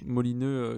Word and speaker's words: Molineux: voir les matchs à Molineux. Molineux qui est, je sais pas si je prononce bien d'ailleurs, c'est peut-être autre chose. C'est ça, c'est ça. Molineux Ça fait qui très est.